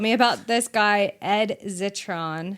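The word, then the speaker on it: Zitron: He told me about this guy, Ed Zetron. I think I'm saying his last name right. Spelled like Citron but with a Z.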